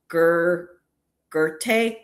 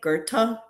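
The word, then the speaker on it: Goethe: it I was like But it's um Gerte. Gerta. G O E T H E.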